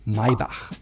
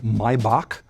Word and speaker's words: Maybach: related to Mercedes-Benz is Maybach. And a lot of Americans would call it Maybach because it sounds like a K to CH, but in German it's called H. Everything that's CH is H, Maybach.